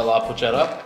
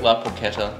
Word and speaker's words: La Porchetta: Gonna jump in real quick, La Porchetta. Yeah, La Porchetta, sure. Sorry, it's a hard C.